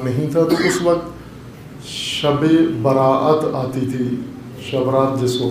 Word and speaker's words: شب براءت: ہے، لیلۃ البراءت ہے، شبرات ہم اپنے محلی مقامی لہجے میں اسے کہتے ہیں، 15 کی شب، 14